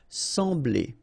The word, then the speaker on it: sembler: So EM will give you the sound en. Okay, so you don't pronounce the M, you just get the sound en. Sembler. Sembler, okay? Combination of B and L, bl, bl, sembler, all right?